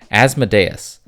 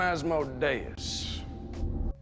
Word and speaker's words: Asmodeus: Now it's time for our very first demon, Asmodeus, or Asmodeus. It's pronounced both ways, which bugs me. How does he say it? I am Asmodeus.